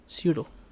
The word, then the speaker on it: pseudo: pseudo, pseudo p silent होता है।